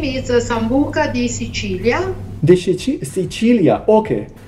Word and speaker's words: Sambuca: town of sambuka the Sicilia how do you pronounce the name of the town so the name is sambuka the Cilia the Cilia okay yes cilia is